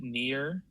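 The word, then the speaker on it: Nier: Uh, I've been playing Near. That's spelled N I E R.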